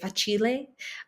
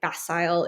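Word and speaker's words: Facile: So for an Italian pronunciation, I would say file. Um maybe like fasile if you're if you're doing like an American pronunciation.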